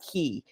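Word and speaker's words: Caye: also to clarify that the pronunciation um of the islands is typically key so like ke y so even though it's written k a ye um you uh the in in in in the UK and also in B you would pronounce it Tobacco key saltwater key um Etc so uh just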